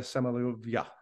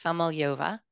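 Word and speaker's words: Samoylova: second image from Anastasia samala I think I mispronounced that it's a mouthful I've gotten better it's samal yova you were close yeah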